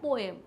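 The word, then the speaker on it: poem: पोअम बोले तो पोएम, उसका सही प्रोनाउंसिएशन पोअम होता है। तो आपको कंफ्यूज नहीं होना अगर मैम पोअम कह रही है, क्यों? क्योंकि पोअम मीन्स पोएम ही होता है, because correct pronunciation is पोअम।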